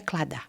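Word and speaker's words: Claddagh: Eu não sei como é que pronuncia isso aí não, mas é CLADAGH. Como eu tinha um namorado que chamava Dara e o final era com GH, então vamos fingir que é Cladar.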